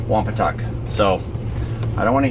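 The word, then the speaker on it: Wompatuck: effective use that's 172 all registered here at wampa touch State Park and just so that you guys know I asked the Ranger and it is actually pronounced wampa tuck so I don't want to hear any crap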